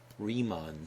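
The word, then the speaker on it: Riemann: the left sum or sometimes called the left remon sum remon is spelled r i e m Ann named after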